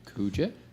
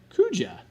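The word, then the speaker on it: Kuja: Kua. Kua. It's like Kujo but with an A.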